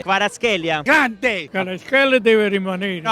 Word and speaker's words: Kvaratskhelia: Varaschea. No, Kvaratskhelia.